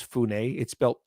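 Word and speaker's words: Funnye: The other group that is still based, their main base is there in Chicago, led by Rabbi Capers Funne. Looks like it's spelled funny, Funye.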